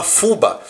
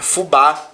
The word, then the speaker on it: fubá: a última sílaba tônica não fala fubá não Fala saci é fubá Saci Então você conta sempre